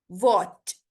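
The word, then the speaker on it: watch: वॉच, T silent है, वॉच।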